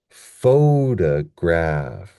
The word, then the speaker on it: photograph: So this next word here, we have the stress at the beginning, and that's our major stress. And then we have an unstressed syllable. And then do you see a lower apostrophe? I mean, maybe like a comma. That tells us our secondary stress. So we have photograph, photograph, right?